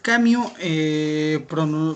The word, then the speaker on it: Camus: francés argelino llamado albert cambio bueno se escribe camus pero de la pronunciación francesa nos obliga a que